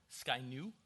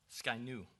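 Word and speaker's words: Scia'new: that the and I forgive me I cannot pronounce that word Sydney Shana Shanna Shanna suena sorry sky new sky new okay thank you the sky new nation confirms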